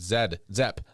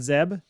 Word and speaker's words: Zeb: Zep. Nope. You were saying Zed. I that's why I asked you a question and said, you mean you're talking about Zeb?